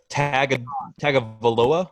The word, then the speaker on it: Tagovailoa: they pronounce it on like ESPN and stuff. There's an N. They say an N, but there's no N in the actual name.